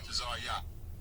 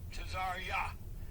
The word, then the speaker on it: Tazaryach: What does it feel like to you, Tazaryach? Right. Tazaryach. Tazaryach.